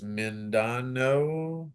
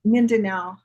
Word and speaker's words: Mindanao: And then last year, Philippines, Taiwan, and I do not know how to say this place, Mindanao. Oh, Mindanao.